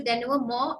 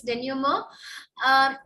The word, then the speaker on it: denouement: It's a French word. So denouement is how we say it. So more as in MOW जैसा कुछ pronounce करते हैं. Okay, so it's denouement.